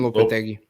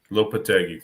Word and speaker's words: Lopetegui: Julian Lopetegui. Lopetegui, thank you.